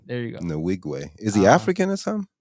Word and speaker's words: Nwigwe: Nwigwe. There you go. Nwigwe.